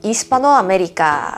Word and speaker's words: Hispanoamérica: 아체는 발음이 되지가 않죠. 스페인어에서 이스파노 아메리카, 여러분들이 들어보셨을 수 있을 것 같아요.